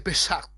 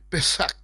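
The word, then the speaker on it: פסח: En el hebreo se dice pesach, pesach, así se pronuncia.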